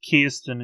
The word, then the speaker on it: Kirsten: No, it's Kirsten is how she pronounces it. Kirsten? What about Kristen?